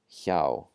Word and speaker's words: hjá: So whenever you see the HJ, it's going to be a yeah, yeah, yeah sound. As in this word, hjarðir, hjarðir, and hjá, hjá. That's the voiceless J.